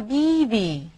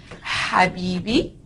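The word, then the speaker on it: حبيبي: Same goes for Arabic words. Habibi is right. Habibi is wrong.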